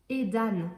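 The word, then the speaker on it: Aidan: Avec ce début, pareil, je crois que ça se prononce aussi Eden, mais ça s'écrit A-E. Et donc là, c'est A-I, Edan.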